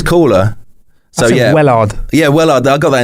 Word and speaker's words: Woollard: It's pronounced Woollard.